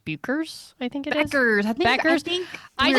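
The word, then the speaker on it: Paige Bueckers: Beckers and like the U.S.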